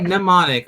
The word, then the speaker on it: mnemonic: Oh, that's right, mnemonic. Oh, that's right. Why am I pronouncing the M?